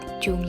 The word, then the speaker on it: Chuon: flower and fauna system the name of June Lagoon is spelled c h u o n the word June can